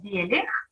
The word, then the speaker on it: Белих: Моя фамилия Белих. Белих.